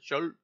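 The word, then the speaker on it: Scholz: Olaf Schultz that's that that's how I would pronounce it Schultz not schz schz yeah right all right didn't inflict his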